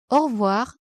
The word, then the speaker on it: au revoir: The letter A plus U is pronounced O, and the letter E is usually not pronounced, so you say au revoir. The letter O plus I is pronounced wa.